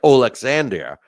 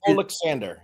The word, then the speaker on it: Oleksandr: first name it s it looks like olander but just Alexander yeah yeah okay okay